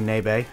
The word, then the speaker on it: Nabe: as somebody told me it's actually nabe a so you know anyway